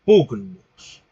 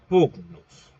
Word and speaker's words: pugnus: Si pronunciamos esta palabra a la usanza restituta o al modo restituto, diríamos algo así como pugnus. Sí, pugnus.